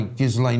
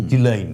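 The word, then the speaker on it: Ghislaine: apparently were taken by Gizlane Maxwell or Gileain Maxwell, depending on how you like to pronounce her name, which I mean there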